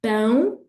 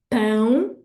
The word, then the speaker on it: pão: Another example would be pão, pão, nasal sound, that means bread, or pau, pau, which means wood, okay?